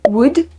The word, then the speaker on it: Would: Would. I guess you don't say the L.